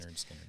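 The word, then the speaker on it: Lynyrd Skynyrd: I did this bucket list, Pronounce it playlist, Leonard Skinner.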